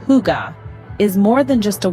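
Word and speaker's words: hygge: be incomplete without understanding Higa this Danish concept C pronounced Huga is more than just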